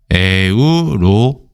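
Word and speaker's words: Europa: 우리는 이거를 유럽어로 읽지만 라틴어 계열로 읽으면은 라틴어 계열은 이렇게 잘라서 부릅니다. 그래서 에우로페라고 읽죠.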